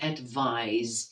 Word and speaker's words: advise: look at the word advise listen to how I pronounce it the S is voiced advise right side should actually be Z sorry but it's not